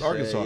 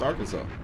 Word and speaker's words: Arkansas: and Arkansas, Arkansas is spelled Arkansas, but it's pronounced Arkansas because one was a French colony and the other one was American. That's why they're pronounced differently. Kansas and Arkansas, but it's pronounced Arkansas.